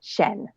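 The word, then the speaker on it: Xian: I clicked on it, and it said Shen.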